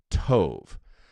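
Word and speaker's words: טוב: tov and Tov now you could just phonetically say t-o-v t as in Tom o v is in in Valerie t-o-v Tove so when you when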